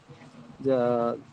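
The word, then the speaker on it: ذ: বাজবে না, জাল বাতে এরকম না, এই জিব্বার আগে এই দুই দাঁতের আগে লাগান, এই যে এই জি লাগান লাগান, লাগিয়ে উচ্চারণ করতে হবে। জাল, জাল ওকে, এই যে আমি লাগাচ্ছি, এই যে জাল।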